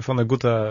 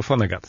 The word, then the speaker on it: Vonnegut: tym dwie formy wymowy Jedni twierdzą że tradycjonaliści że mówi się Phone Guta czyli bo to jest Niemiec pochodzenia natomiast Amerykanie jako że on jest obywatelstwem amerykańskiemu Vonnegut A ja pewnie tak